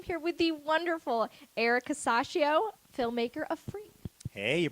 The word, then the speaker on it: Casaccio: and I am here with the wonderful Eric casacio filmmaker of free hey you pronounced my last name right good job thank